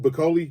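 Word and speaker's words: Bakole: Martin Bakoli, did I say that right?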